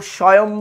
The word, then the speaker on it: SWAYAM: তারপর সোয়াম আছে, SWAYAM, কেউ স্বয়ং বলে, কেউ আবার সোয়ামও বলে, সোয়াম বা কেউ স্বয়ং, যে কোনো একটা উচ্চারণ করে, মোট কথা তুমি যাই